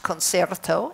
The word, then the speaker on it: Concerto: It's pronounced Concerto in Dutch. This is Concerto.